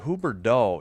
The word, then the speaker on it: Huberdeau: Huberdeau.